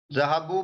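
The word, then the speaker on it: ذهبوا: This alif we only write, but we don't pronounce this alif.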